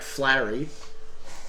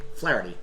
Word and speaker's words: Flaherty: good um we've got pitcher here uh jack flarey uh flaherty flaherty that's how you pronounce it jack flaherty uh st louis cardinals